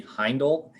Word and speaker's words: Heindel: later so i'll just edit it out but pronunciation of your last name katie heindel yep you got it yeah appreciate that yeah